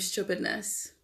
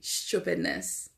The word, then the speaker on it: stupidness: And Jojo's song was named Stupidness. I pronounce it the Grenadian way. Stupidness. Yes, not stupidness. Stupidness.